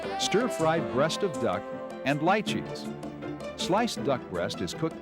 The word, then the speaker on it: lychees: Now, lychees is the way it's pronounced. Lychees would make you think, my goodness, duck and something out of a swamp?